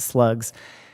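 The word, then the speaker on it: SLGS: um state and local government securities they're called slugs so which is SL um GS is how pronounce it slugs any money invested in these in this security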